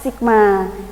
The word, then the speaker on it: sigma: Itu namanya adalah sigma. Bacanya apa?